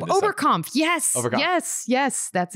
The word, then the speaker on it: Oberkampf: Oberkampf.